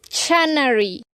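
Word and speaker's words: Channary: Y sabemos que la reina Canary, bueno, ¿tú lo pronuncias Canary? Sí. ¿Sí? Es que, bueno, yo he escuchado los audiolibros y la narradora siempre dice Chanary.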